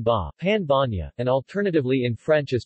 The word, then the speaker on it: pan bagnat: the pan magnet pronounced part of the power of n ba pan Vanya and alternatively in French as pain magnet is